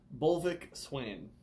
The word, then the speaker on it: BLVK SWAN: That's with a V. It's with a V, people. There's a V in black. It's actually pronounced BLVK. BLVK SWAN.